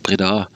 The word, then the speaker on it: Breda: Ich glaube, das betont man nur auf der zweiten Silbe. Breda. Breda? Ich glaube, echt? Ja. Es kommt von der Breda.